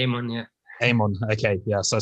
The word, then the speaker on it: Amon: Amon, we generally say Amon, Amon, okay, yeah, so I'm saying it right in the first place.